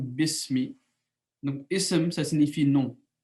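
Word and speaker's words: بسم: bi et semis et on dit besmi parce que le halal est mort sous là c'est à dire que lorsque l'être s'attache à ce nom alors la leaf disparaît donc on prononce comme besmi donc et ça signifie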